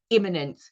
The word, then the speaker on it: immanent: It is spelt with an A. Very similar, isn't it, to the word immanent, which is when something is immediate. Immanent, if I can pronounce it like that for emphasis, is the belief that